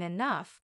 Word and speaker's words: enough: day I'll even understand why G can sound like f in enough the mysteries of English